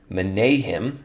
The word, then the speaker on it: Menahem: Menahem, that shall be my official pronunciation.